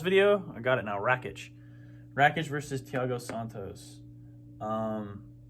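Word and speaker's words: Rakić: that that last video i got it now rakitch wreckage versus tiago santos um this is when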